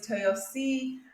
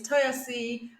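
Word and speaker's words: Toyosi: podcast my name is Toyo C I keep trying to say my name right because I'm so used to saying it like the Western way my name is toyasi and yeah I'm your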